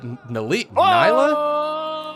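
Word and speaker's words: Nilah: chase, which is that Nyla? How do you pronounce that champion's name? Neela. Neela. I She was says sort of Neela. close. She says Neela. Okay. I am confident in that pronunciation.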